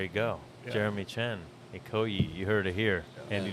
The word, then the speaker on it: Ikoyi: Ikoyi? Ikoyi, Is that how yeah. it's pronounced?